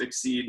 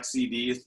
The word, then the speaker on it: X-CD: but as a background exceed pronounced exceed not xcd uh we've been correcting